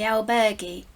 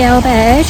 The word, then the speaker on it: albergue: to check into the albergue. Well, we have checked in to the albergue or albergue. I've heard it pronounced both ways.